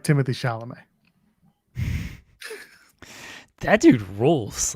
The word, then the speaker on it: Chalamet: We're walking on the Chalamet, because that's how you got to pronounce his name. Timothy Chalamet.